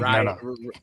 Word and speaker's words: Ryan: Oh, hey, Brian. It's like No, no, no. It's It's Ryan. Ryan.